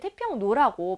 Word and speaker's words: 태평로: 일반 명사로 나올 때는 그냥 태평노라고 발음되는 대로 우리가 자음동화가 일어나잖아요. 태평노 이렇게 종노처럼 표현이 되잖아요.